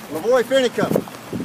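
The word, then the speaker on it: LaVoy Finicum: Lavoie Finicum. And how do you spell that?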